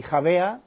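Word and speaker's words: Xàbia: bon je reviens sur khavea superbe site enfin en espagnol on dit khavéa mais ça s'écrit en Valenciano Rabia Xa BIA voilà où là vous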